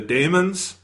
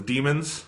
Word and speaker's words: Daemons: of his second season the Damon or the demons yeah depending on how you want to pronounce that thing which the the episode